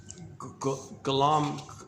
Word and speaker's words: Golomb: the work of Elan Golomb. It's either Golomb or Golomb, however you pronounce Golomb. I'm pretty sure the B is silent.